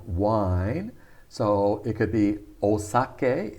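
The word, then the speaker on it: お酒: so it could be osake is the native pronunciation so we americans call it saki that to call it saki is totally wrong it's osake using the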